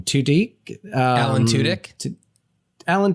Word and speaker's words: Tudyk: And I thought about Alan, I don't know how you pronounce his last name, Tudyk. Alan Tudyk. Alan Tudyk, thank you.